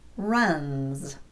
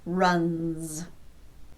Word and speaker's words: runs: Here's another example, runs. Again, N is a voiced consonant, n, so the S will be pronounced z, runs.